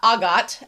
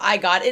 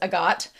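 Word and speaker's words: Agott: I should pronounce uh Agot. Agot instead of I got it. It is agot. Um I watched the English dub and it is agot.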